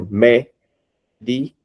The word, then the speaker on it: médico: Médico. Veja que não é a última, não é a penúltima, e sim a antepenúltima sílaba.